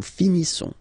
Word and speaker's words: finissons: Nous finissons. Finissons. Okay, final S, not pronounced. Nous finissons.